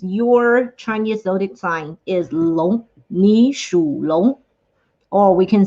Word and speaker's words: 龙: The pinyin on top of that kind of looks like the English word long, but I know, and the people have the tendency to pronounce it as long, but it is in fact 龙.